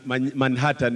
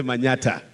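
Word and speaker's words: Manyatta: is supposed to be Manhattan but we don't pronounce man Manhattan we say Manata and I am also the chairman Kenya young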